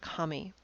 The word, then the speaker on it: kami: And the reason why paper is used is because the word in Japanese for paper is a homonym for the word for deity. They're both pronounced kami.